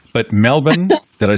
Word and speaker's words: Melbourne: We got to see Sydney and not Melbourne, but Melbourne.